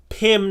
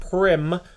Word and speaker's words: Pim: Shout out to Pim, not Prim.